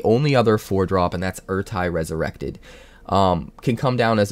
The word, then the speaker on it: Ertai: at a key moment, Ertai. Back during Tempest, I pronounced it Ertai, but I'm pretty sure it's Ertai.